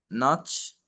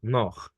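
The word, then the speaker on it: nach: والكلمه دي آه ناتش. السي اتش هنطقها خ. تمام. نخ. ناخ. بالظبط كده، ناخ.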